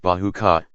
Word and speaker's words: bajika: Nature does her best to protect the jungle, for always, on the edges, bamboo, and bajika, pronounced bahuka, vie with each other